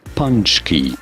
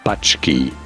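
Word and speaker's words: pączki: Jalapeno punchki polish pastry. Not bachki but rather punchki.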